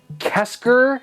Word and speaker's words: KSGER: iron this is actually the i think it's kesker is how it's pronounced this is what voltar has been using